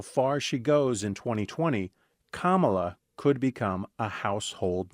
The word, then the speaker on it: Kamala: it difficult to pronounce kamala's name correctly Harris's first name is pronounced Kamala it's arrived from Sanskrit her mother was born